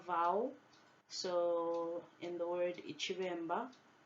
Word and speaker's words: iciBemba: So in the word iciBemba, the first B is pronounced V. The second one is a harder B sound, so it's mb. So iciBemba.